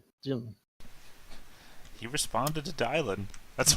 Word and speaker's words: Dylan: It's Dylan like Bob Dylan.